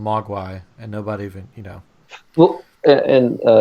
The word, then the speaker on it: Mogwai: What's the pronunciation for that in Chinese? Mogwai.